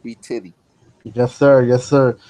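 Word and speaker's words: b_tidy: man underscore b-t-i-d-y it's spell b-tidy but it's pronounced b titty yes sir yes sir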